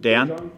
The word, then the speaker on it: Dejan: And what do you like about, I pronounce it Dejan? Just Dejan, yeah, I think it's Dejan.